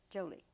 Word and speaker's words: Jolie: angelina hi jolie yes the emphasis on the joe jolie joey jolie yes because